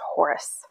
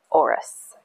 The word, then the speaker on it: Horus: names whose name was horus h-o-r-u-s i know you've heard that name before but it is actually pronounced oris a-u-r-u-s and once you when you